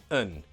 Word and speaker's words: a: Usually, just pronounce them un. Lazy, right? Just a schwa sound.